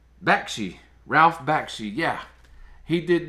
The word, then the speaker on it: Bakshi: Ralph Bakshi, how do you pronounce his name? Bakshi.